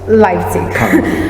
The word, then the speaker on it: Leipzig: Leipzig. I was very scared of mispronouncing it, but I will put it on screen.